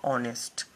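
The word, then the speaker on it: honest: यहाँ पर हम लोगों को एन का प्रयोग करना पड़ेगा क्योंकि यहाँ ऑनेस्ट क्या है, साइलेंट है, एच यहाँ पर साइलेंट है, यानी ओ से इसका उच्चारण होगा ऑनेस्ट।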